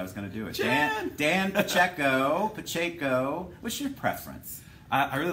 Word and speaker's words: Pacheco: Dan Pacheco. What's your preference? I really like Pacheco. Pacheco. Or Pacheco. Just like not it. Pacheco.